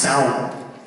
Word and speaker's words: Samhain: But I think it's pronounced Samhain.